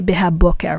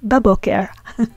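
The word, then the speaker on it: בבוקר: It's like saying beha boker, in the morning. But we don't say beha boker, we say baboker.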